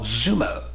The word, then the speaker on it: Xumo: guys right here they're called Zumo and I'll show you how to add the channel just to get started go to streaming channels press okay go to search channels and press okay and then spell it on out x u n o spell Zumo and we're going to launch